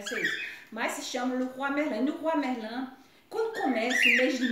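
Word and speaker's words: Leroy Merlin: O brasileiro deve chamar, pronunciar Le Roi Merlin, eu acho que deve ser isso. Mas se chama Le Roi Merlin.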